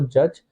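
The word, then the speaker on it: judge: और वर्ड लिखना हो जज देखो डी तो साइलेंट है इसके लिए कुछ बनेगा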